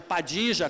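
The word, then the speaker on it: Padilla: Mas você pode chamar de Padilha, pode chamar de Padija, como se fala no Uruguai e na Argentina, aqui por influência provavelmente muita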